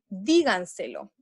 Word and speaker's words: díganselo: ¿En qué sílaba? La sílaba se acentúa en la, disculpen, se acentúa en la sílaba di. Díganselo. Por ende, niños y niñas,